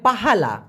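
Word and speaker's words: pahala: বলে সেটা আবার হবে পাহালা পা হা লা পাহা লা কার হালা পাহালা আর ডোসা মানে পাপ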